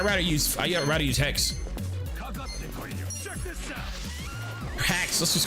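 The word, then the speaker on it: Haxe: h a x e it's pronounced hex but some people call it hacks yeah look it up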